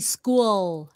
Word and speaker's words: school: is is actually good but that l that l is very important school okay so your